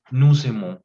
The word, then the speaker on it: nous aimons: en el español, que cuando una palabra termina en consonante y la siguiente viene en vocal, puedes hacer una conexión de esas dos palabras para que eh, suene como una sola, ¿no?